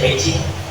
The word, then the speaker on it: Beijing: Beijing ini bacanya Beijing menggunakan akupuntur untuk meredakan pasca operasi.